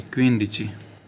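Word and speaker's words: quindici: डी आई सी आई क्वीन दची माफ करना दोस्तों क्वीनन दज नहीं तो क्वीन होता है ई बीच में आएगा क्वीन दची उसके बाद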